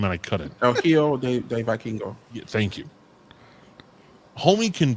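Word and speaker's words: El Hijo del Vikingo: And I look at people like LD Viking. But Vikingo. I tried to say his name and I couldn't. El Hijo de Vikingo.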